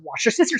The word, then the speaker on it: Worcestershire: Do you know that Worcestershire sauce? Just say Worcestershire sauce. It's Worcestershire sauce. No, it's Worcestershire Or- sauce. But machine washing sauce. Worcestershire. Worcestershire. No, it's Worcestershire sauce.